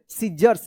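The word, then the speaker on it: scissors: double S ओ आर एस सीजर्स क्या पढ़ेंगे सीजर्स यहां पे सी साइलेंट रहेगा देखिए यहां पे माय थंब हर्ट्स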